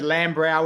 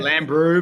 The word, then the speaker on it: Lambrou: The It's depends how you pronounce it. We've We've heard Lamra. We've heard Lam Bro. We pronounce it Lamb Brew.